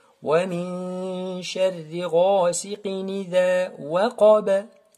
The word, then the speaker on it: وقب: Ici, le waw, elle est fouilletée. Mais le qaf, il est emphatique. Et le ba, il y a une sorte de qalqala, une sorte de vibration. Waqaba, comme le qaf ici.